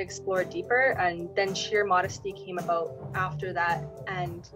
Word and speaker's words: Modeste: juxtaposition of that and modesty has its own story in itself because when I was younger people pronounce my last name is modest and pissed me off because